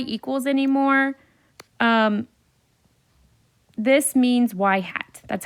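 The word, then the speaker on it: ŷ: don't say y equals anymore um this means y hat that's how or sorry this is pronounced y hat that's how we pronounce it so y hat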